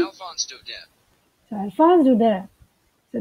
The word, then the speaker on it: Alphonse Daudet: Alphonse Daudet. So, Alphonse Daudet. So, this is a French word actually, and we must know the correct pronunciation.